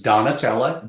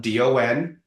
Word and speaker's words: Donatella: By the way, it's Donatella, Donatella, and her last name, Ciccarelli. Finally, I pronounced someone's last name correctly, I hope.